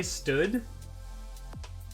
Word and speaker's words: std: image you've sent me how do you print pronounce std oh like like standard library what like standard colon colon copy boost uh people say stood that's so whack i